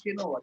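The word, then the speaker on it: chinois: It's pronounced as Shinua.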